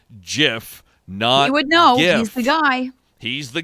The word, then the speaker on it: GIF: pronunciation of the jiff which he says is pronounced like the peanut butter brand jiff you would know he's